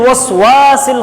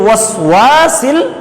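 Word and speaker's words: الْوَسْوَاسِ: আমরা একটি আয়াতে বলেছিলাম মিন শাররিল ওয়াসওয়াসিল খান্নাস। আমরা অনেকেই ওয়াওয়ের উপরে জবর থাকলে ওয়াওয়ের উচ্চারণটা কখনো ও হয় না, ওয়াওয়ের উচ্চারণ জবর থাকলে ওয়াওয়ের উচ্চারণটা হবে ওয়া, সেজন্যই বলেছি মিন শাররিল ওয়াসওয়াসিল খান্নাস।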